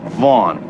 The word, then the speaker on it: Vaughan: the name of sloan vaughan vaughn the gh is not pronounced i'll park it myself